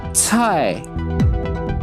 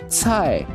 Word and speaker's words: 菜: 菜,菜,菜. Well, C is actually the most difficult word for non-Chinese people to pronounce. Try to copy how I say 菜, t, 菜, 菜.